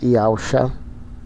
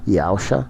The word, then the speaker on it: Yahshua: Os Ialdins que servem ao verdadeiro Salvador Yahshua, que é a salvação do eterno, essa é a pronúncia aqui, tá? Salvação do eterno, do Criador soberano, Yahshua, quer dizer isso.